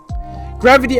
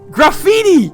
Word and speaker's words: graffiti: there's gravity oh gravity graffiti graffiti graffiti. Sorry, it you pronounce it gravity in Dutch.